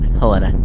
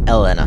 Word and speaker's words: Elena: Not Helena, Elena.